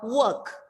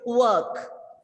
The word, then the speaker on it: work: the rounded lips your work r is silent there because it's consonant letter comes after r so this is another